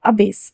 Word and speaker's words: abase: नीचा दिखाना, किसी को डिग्रेड करना, नीचा दिखाना, तो उसे इंग्लिश में बोलेंगे अबेस, अबेस, ABASE, अबेस।